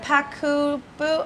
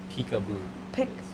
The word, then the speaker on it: Peekaboo: is it Pakubu? Are you Hmong? No, peekaboo. Oh, is that how you say it? Yes, it's peekaboo, babe. Oh, sorry. No, there's a Hmong word like Baku and stuff, so I thought you were It's Hmong. peekaboo.